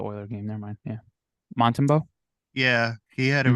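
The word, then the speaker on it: Montembeault: Yeah, Montembeau.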